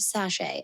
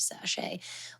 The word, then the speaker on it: sachet: And that's why I always give that special little reminder for anybody who may be hearing that word for the first time and they've only read it ever before. Um, but it is an herb sache.